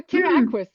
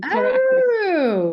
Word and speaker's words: terraqueous: Oh, terra aquis, like terrestrial and aquatic, as in terra aquis, like amphibious, or however you want to say it.